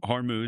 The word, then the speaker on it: Hormuz: some of the issues in the Strait of Hormuz, Yeah. if I'm pronouncing that right. Hormuz, yeah.